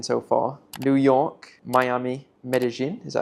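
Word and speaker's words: Medellín: New York, Miami, Medellin, is that how you say it?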